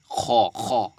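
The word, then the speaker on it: خ: গ ঠিক আছে গন তারপর খ একদম একদম কন্ঠনাল শেষ থেকে উচ্চারণটা করবেন ঠিক আছে খ।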